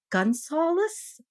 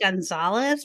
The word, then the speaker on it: Gunsaulus: a Chicago minister, Frank Gunsaulus. I'm sure I'm pronouncing that wrong. It's not. It's how do you spell that? Gunsaulus. That sounds perfect. I was like, was it Gonzalez?